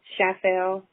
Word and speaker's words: Schaeffel: fantastic will you state your name and spell it for the record yeah um my full name is chappelle last name chappelle s-c-h-a-e-f-f-e-l but i go